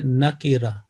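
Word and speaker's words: نکرة: ٹھیک ہے, جو تلفظ اردو میں عام طور پہ چل جاتا ہے نکرہ, لیکن اصل لفظ ہے نکیرہ, قاف کے نیچے کسرہ, نکیرۃن ہوتا ہے نا.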